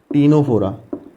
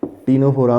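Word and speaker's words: Ctenophora: दूसरा टीनोफोरा, इसमें सी साइलेंट रहता है, टीनोफोरा में सी साइलेंट रहता है।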